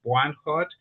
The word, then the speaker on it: Bwanhot: Uh, and I know that my last name is always difficult to pronounce. Buanot.